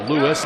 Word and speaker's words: Lewes: 4 Delaware teams will play December 27th through the 29th at Cape Henlopen High School in Lewes, Delaware. I should say it's actually pronounced Lewis, Delaware.